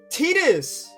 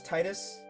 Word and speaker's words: Tidus: Apparently Tidus is how you say his name. I was watching a stream earlier, which, by the way, chat, I don't know how sacrilege some of the things they were saying. That chat loves those D&D guys love Final Fantasy. And they said his name is Tidus. I always thought it was Titus, but apparently it's Tidus because Tida or whatever is how you say sun in Japanese or whatever.